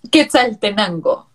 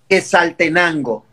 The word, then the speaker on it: Quetzaltenango: So it's Quetzaltenango. Quetzaltenango. Yes. It's La Tierra del Quetzal. Quetzaltenango.